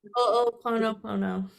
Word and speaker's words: Ho'oponopono: So my favorite exercise to do for myself is and I'm so sorry, I always mess up the pronunciation of this, but the Hawaiian prayer. Ho'oponopono? Ho'oponopono.